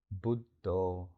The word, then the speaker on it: Buddho: But if you're really fighting back the waterfall of thoughts, you might add the mantra Buddho, as if you're singing the syllable Bud or Bu on the inhale, and Do on the exhale.